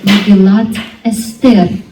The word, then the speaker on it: Megillat Esther: And this is the Esther scroll of Megillat Esther, how they pronounce it in Hebrew.